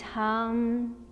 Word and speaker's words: Hum: practice meditation so when we do inhale we pronounce soul when we exhale we let it out with harm so i'll demonstrate the